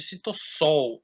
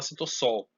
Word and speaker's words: citosol: específico é chamado de citosol ou citosol eu gosto de falar citossol mas e se você for ler como se escreve É citosol mesmo né é o hialoplasma tá